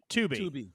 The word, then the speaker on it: Tubi: Is it Tubi or Tubby? Tubi.